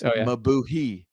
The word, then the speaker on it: Mabuhay: It looks like it's Mabuhi, means long live.